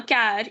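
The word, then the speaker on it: char: इस हां कैर या आप इसको चार भी बोल सकते हैं। पाकिस्तान में इसकी प्रोनाउंसिएशन चार है और वैसे जो ओवरऑल प्रोनाउंसिएशन है ना वो कैर बोलते हैं इसको।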